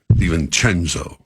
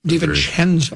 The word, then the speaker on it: DiVincenzo: All right, I'll pronounce it correctly. DiVincenzo. I like saying that. DiVincenzo.